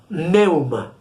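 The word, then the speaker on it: pneuma: idioma del nuevo testamento esta palabra se pronuncia neuma como vemos en la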